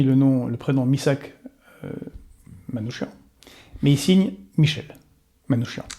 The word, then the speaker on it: Manouchian: le même nom mais c'est lui qui voulait qu'on l'appelle Manouchian parce que en français sur son passeport n scen son nom était manouchiant et donc il voulait qu'on prononce comme ça et pas manouquian et de la même